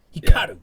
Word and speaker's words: Hikaru: She says it very Japanese. She does a good job. Hikaru. Yeah. But it's faster than that. It's Hikaru.